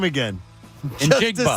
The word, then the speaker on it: Njigba: Njigba. Just to say it. This is Smith not... Njigba.